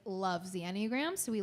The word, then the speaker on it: Enneagram: And correct me, I'm pronouncing this correctly, yes? Yes. Enneagram.